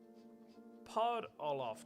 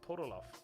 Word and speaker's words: Podoloff: round five question four the maurice polith trophy the maurice pod olaf trophy probably pronouncing that wrong maurice podoloff puddle off there we go next up round five